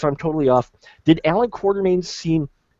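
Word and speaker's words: Quatermain: you could see Alan quarterman's there it's quarter main guys nobody and it's okay because nobody in the movies pronounces it right either but it's all it's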